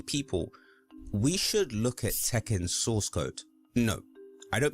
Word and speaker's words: Tekken: Ten. I'll always remember that. Tekken. To be fair, that's how casuals would pronounce Tekken.